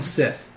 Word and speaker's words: Sith: i t and then Sith Sith just like Star Wars like maybe he's a